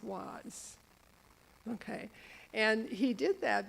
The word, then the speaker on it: Oise: Okay, and then from the south of France now, he went up to Avar-sur-Oise, O-I-S-E, I've been told it's pronounced was.